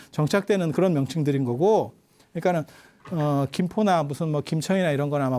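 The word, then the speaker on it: 金: 금씨가 아니고 그러니까 원래 우리 발음은 금이에요.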